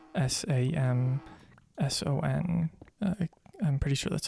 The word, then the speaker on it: Samson: It's a Samsung, not Samsung, Samson.